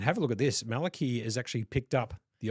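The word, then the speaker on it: Malakey: Malaki. Malaki. Malik. Malak. M A L A K E Y is probably the best way to pronounce it.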